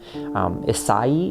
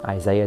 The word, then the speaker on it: Isai: Isai is how you pronounce that, but it's just, Isaiah is just kind of what he's called, and it sounds like it's this thing that it's not.